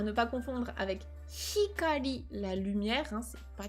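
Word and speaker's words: 光: c'est la colère, à ne pas confondre avec hikari, la lumière, hein, c'est pas du tout le même mot, c'est pas la même prononciation.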